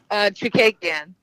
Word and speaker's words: Chookagian: But Katlyn, how do you pronounce that name? Me and Dennis can never get it right. Chookagian. Chookagian. So I was really close, actually. I was way off. I was like, Chookagian.